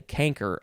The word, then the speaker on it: chancre: It's a chancre, but I think I've heard people say canker also.